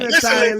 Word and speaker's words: Michelin: Michelin tire.